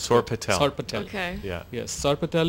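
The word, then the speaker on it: sorpatel: going dish is called SAR Patel let's see right down it's I'll spell it okay s-o-r-p-a-t-e-l now this is going to get a lot of viral hits so that's sore Patel okay yeah yes SAR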